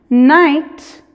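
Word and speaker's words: knight: regla del número 7 la k en la combinación k n es muda como en mí night night lights' suena igual que night de la noche verdad pero no es lo mismo nights con acá es un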